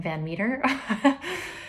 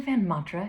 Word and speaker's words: Van Matra: family actually pronounces it, but it's actually Van Matra because I lived in Europe for many years, and I am married to a Belgian guy, and my ancestral roots are in Scandinavia and Netherlands and Sweden. And so that's how you pronounce my name.